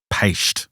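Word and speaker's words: Peiste: 3, which is the Paist of Connemara. The Paist. Paist. That's a new word I've never heard before. It's spelt P-E-I-S-T-E, but it's pronounced Paist.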